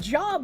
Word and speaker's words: Job: It's pronounced like lobe.